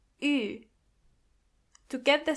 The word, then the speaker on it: Ü: This letter is pronounced Ü. To get the sound, start with a normal U and then make your lips even closer to each other. Ü.